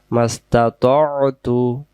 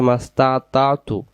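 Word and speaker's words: استطعت: ওয়া ওয়া'দিকা মাস্তাতু, মাস্তা, এটা বলবো ততু। বাংলা দিয়ে অনেক জায়গায় লেখা আছে মাস্তাতাতু, তখন এই তো অক্ষরটা ভুল হয়ে যাবে।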